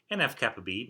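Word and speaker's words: NF-κB: And when I'm saying kappa B, I'm just pronouncing the lowercase Greek letter K that's here, which is a kappa.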